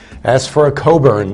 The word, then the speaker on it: Cockburn: don't ask for a Cockburn as for a Coburn that's how you pronounce in England it's it children it's